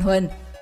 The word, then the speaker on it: Hoàng: Ngày xưa, ở miền Trung từ Huế trở vào và miền Nam Việt Nam, do kỵ húy chúa Nguyễn Hoàng nên họ Hoàng được đọc trở thành Huỳnh và được phát âm như thế từ hàng trăm năm nay.